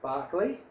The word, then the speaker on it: Berkeley: Hi, this is here, founder and CEO of Complete Removals, and we're in Berkeley Nest Agencies, pronounced Barkley, and I'm joined by Jacqui Dunn, and Jacqui's a close personal friend.